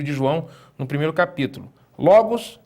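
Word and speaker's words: λόγος: Logos é a palavra. Olha onde está o acento. Logos, né? Está na penúltima sílaba.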